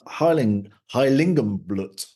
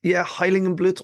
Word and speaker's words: Heiligenblut: You're going to tell me all about Heiligenblut. Yeah, I think, Heiligenblut or Heiligenblut. I think you pronounced it pretty spot on there.